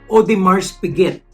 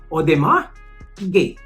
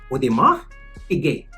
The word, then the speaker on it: Audemars Piguet: Hindi po ganun ha. Dapat po alam natin paano mag-pronounce para arrive na tayo. Audemars Piguet. Audemars Piguet. Wala pong S, wala din pong T. Audemars Piguet. Because it's French-Swiss or Swiss-French. Kailangan po ang pronunciation natin tugma dun sa brand.